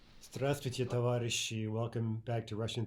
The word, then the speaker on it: здравствуйте: By the way, здравствуйте means literally be healthy, but it's a standard